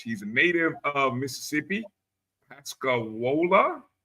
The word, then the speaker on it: Pascagoula: Pascagoula. Did I say that right? You got me on that one. Spell it. Pascagoula. Pascagoula. Pascagoula. Okay. All right. I was down on the Gulf Coast. I was off a syllable.